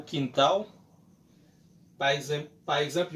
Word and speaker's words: quintal: A rappeler que L en portugais yo prononce comme W.